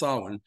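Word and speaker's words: Samhain: but in in gaic I've been told it's pronounced Solin um and this was their their new year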